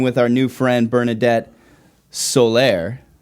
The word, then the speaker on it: Soler: our new friend bernadette solaire did i do that right is that that would be the the puerto rican pronunciation i love it i